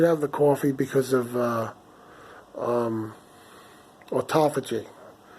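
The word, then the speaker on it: autophagy: the coffee because of at Apogee that's how you say it I always want to say Auto fudging it doesn't sound right right or top of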